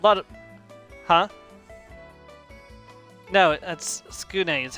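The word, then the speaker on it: Tsukune: No, that's Skune is how they pronounced it in the anime.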